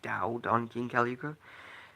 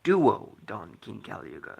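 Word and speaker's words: Duo-Dawn King Kali Yuga: heard this card's name, a friend of mine mispronounced it, and I always thought it was Dao Don King Caluga. And then I heard the anime, and it was like, oh, it's Duo Don King Caluga.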